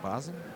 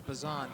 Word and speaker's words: Bosen: Is it Bosen? Uh I was told the pronunciation was Bazan.